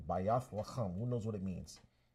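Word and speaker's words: בית לחם: Bayath lacham. That's how you say it in ancient Hebrew. Bayath lacham.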